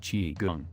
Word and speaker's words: Qigong: Three of the most popular fitness trends to land in the West since the 1960s are yoga, Tai Chi, and Qigong, pronounced Qigong.